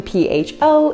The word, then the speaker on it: pho: So even though this soup is written P-H-O, it is actually pronounced pho.